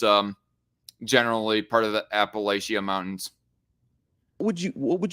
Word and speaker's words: Appalachia: that I heard uh pronounce Appalachia like Appalachia um instead of Appalachia and he gone talking